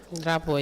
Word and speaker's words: Drapeau: On 21st of May 2022, the Wrestling Association in Senegal dedicated a special event called Unveiling the Drapeau. Did I pronounce that right? Drapeau, is it Drapeau? Drapo, yes.